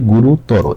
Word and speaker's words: গুরুতর: ওকারের মতো এই যে আমরা বলি যে গুরুত্বর গুরুত্বর উচ্চারণ দেখতে এটা কিন্তু ভুল বলতে হবে কি গুরুতর এই যে এই কথাটা